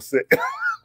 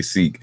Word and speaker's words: Sick: So, so for those who wonder, like if it's pronounced Sikh or Sick, it actually is pronounced Sick, even though most people say Sikh.